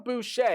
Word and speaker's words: Boucher: But John Boucher, yes, I do believe, to my knowledge, that is how you pronounce that last name, much like Bobby Boucher, of course, from the hit movie.